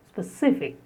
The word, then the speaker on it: specific: The next is specific. Specific. Stress on the second syllable. Specific.